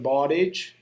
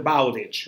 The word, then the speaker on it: Bowditch: that you are talking about carry on mr bottig okay mr bowditch all right sorry i know that is now